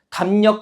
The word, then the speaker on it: 담력: 그래서 담력 같은 경우에 미음 다음에 리을 온 건데 이 리을이 니은으로 비음으로 발음돼서 담력 이렇게 발음이 되는 거고요.